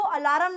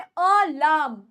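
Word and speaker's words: alarm: है अब याद रखना वर्ड को अलार्म नहीं बोलना वर्ड है अलाम अलाम अलाम सही से प्रोनाउंस करेंगे इसको और ठीक से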